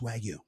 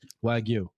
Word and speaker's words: Wagyu: and I think it's pronounced Wagyu. Oh, Sorry. snap. Sorry. I just don't want you to look. I don't want you to sound silly. Okay, that's all. Say it again. Wagyu.